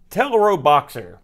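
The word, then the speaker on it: Teleroboxer: star you know it's it's a portmanteau Japanese love portmanteaus well television robot boxer I say little robot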